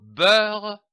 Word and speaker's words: beurre: Le mot beurre se divise en deux syllabes, coupées entre les deux R. B-E-U-R, beurre, R-E-R, beurre, du beurre.